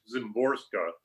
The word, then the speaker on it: Szymborska: the the ways and in her last name i which i take it is pronounced zimborska the number of letters